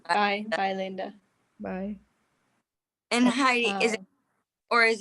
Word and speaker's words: Heidi: Yeah, it's the Finnish way of saying it is Heidi.